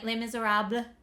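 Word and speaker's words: Les Misérables: Yeah, Les Miserables. If you want to have more of an accurate French pronunciation.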